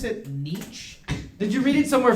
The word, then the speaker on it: Nietzsche: of life okay yeah i read it somewhere niche or something okay high school all right yeah they had us read that you know lock and everything i said did you pronounce it nietzsche did you read it somewhere friedrich nietzsche i